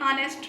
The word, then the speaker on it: honest: Same like this, we use and before the words are honest and honor because in these words the H at the beginning is silent. So when we pronounce these words, are honest, the opening sound is that of a vowel.